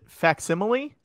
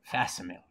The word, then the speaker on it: facsimile: patrick oh uh yeah was it facsimile and what lotto said was fasimil fasomil that you know that's like